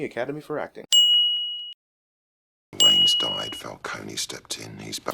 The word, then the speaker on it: Falcone: Wayne's died, Falcone stepped in, he's back. Finally, someone pronounces it right.